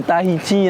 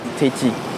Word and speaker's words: Tahiti: Les locaux le savent déjà, bien sûr, mais sachez que contrairement à la langue française, le H n'est pas muet comme dans les mots histoire ou hôpital.